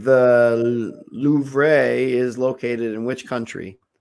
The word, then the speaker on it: Louvre: All right, the Louvre is located in which country?